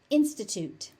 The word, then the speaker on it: institute: Notice that that final t is unaspirated.